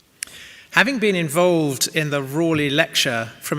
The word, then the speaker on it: Raleigh: a direct descendant of sir walter rawley that is his preferred pronunciation you may well have